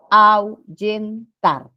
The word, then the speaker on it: ahuyentar: existe Entonces cómo pronunciamos ahuyentar Au se escucha no solo pronunciación entonces la H no ha interferido para la formación de diptongos ahí hay diptongo Lo mismo sucede con